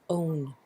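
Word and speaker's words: -one: 0 n E and we pronounce that own numbering after alkane change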